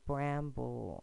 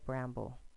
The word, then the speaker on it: bramble: You put the schwa sound because that talking vowel is weak. And on the first, and then the other vowel, you have the short A, the short vowel symbol above the A, and then the accent mark on the B. So if we pronounce this by syllable, would be bramble, and then blend it together, bramble.